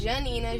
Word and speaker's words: Gianina: Janina.